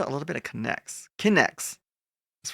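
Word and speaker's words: K'Nex: Connects. That's right. It's spelled word differently.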